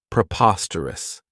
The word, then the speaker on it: preposterous: This adjective has four syllables, and the stress is on that second syllable, preposterous.